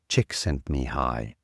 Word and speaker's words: Csikszentmihalyi: Chick sent me high.